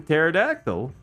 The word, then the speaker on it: pterodactyl: Like a silent P in pterodactyl.